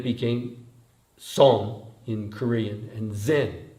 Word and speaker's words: Zen: And then it became song in Korean, and zen, that's how it's pronounced in Japan, zen.